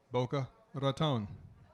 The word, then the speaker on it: Boca Raton: And of course, if you speak Spanish, you know how you pronounce that. Boca Raton.